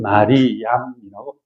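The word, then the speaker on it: مريم: 그래서이 사람들은 마리아라고 안 그러고 마르 혹은 마리암이라고 발음을 합니다.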